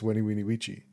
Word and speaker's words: Veni Vidi Vici: Is like, because I thought it was like Veni Vidi Vici. Is that not the same? I guess that is. So it is the same, but it's commonly mispronounced. It's Weni Weenie Weechi.